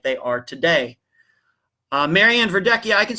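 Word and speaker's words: Verdecchia: and so on the Charlie project but it's pronounced ver ducky a very Italian name I guess but so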